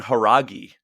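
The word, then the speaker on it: Jauregui: very first fight Yasmin they were saying haragi as the way to pronounce her last name okay so Yasmine haregi I thought she looked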